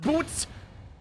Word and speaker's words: Butz: Larry Butz it's pronounced boots not guilty heck yeah